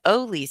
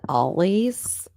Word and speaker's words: Ole's: And I call it Ollie's. Well, it's Ole's. I know it's Apparently. Ollie, but I spell it's just me.